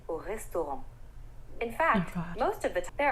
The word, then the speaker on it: restaurant: The S in the word vais, the R in the word manger, and the T at the end of restaurant are all silent letters. We don't actually pronounce them in French.